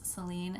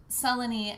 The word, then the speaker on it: Selene: that song is that typically people don't pronounce their names Celine and Endemia, but we really wanted it to rhyme with You Will Lie Down. And so it's Selene and Endymion is the more usual pronunciation.